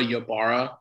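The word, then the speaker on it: Ibarra: Deborah Yabara, I-B-A-R-R-A, Mayfield. Yabara is spelled I-B-A-R-R-A.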